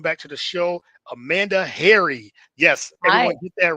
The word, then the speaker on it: Hari: Hari say harai. Harai, I'm assuming. I'm sure they butcher it a lot, but it is. Yeah. Yes. But as you said, it's like Harry like the like a like a man's name.